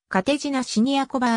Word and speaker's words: Kateřina Siniaková: 31 ダブルス 1 位チェコ語の発音はカテジナシニアコバが近い 5 歳からテニス